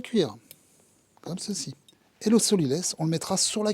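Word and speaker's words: sot-l'y-laisse: C'est le solilès. Le solilès, ça s'écrit S-O-T, L'-Y, L-A-I-2-S-E, parce que seul le sol le laisse.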